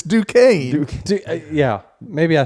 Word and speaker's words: Duquesne: one team because Wait, how did you pronounce it? DeCoin, right? No. What? Oh, I thought you were making fun of Jordan. No, you're wrong too. Yeah, you're so wrong. It's Duquesne.